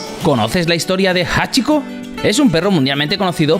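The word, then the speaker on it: 八: El hombre creía que se parecían a la letra japonesa que representa el número ocho, que en japonés se pronuncia Hachi.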